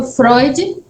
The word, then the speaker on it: Freud: E acontece depois o humor, que o humor, segundo Freud, Sigmund Freud, é assim que se pronuncia?